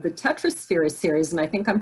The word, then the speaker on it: Tetrasphere: patty you have one series out called the tetrosphere series and i think i'm pronouncing that correctly yes you are tell us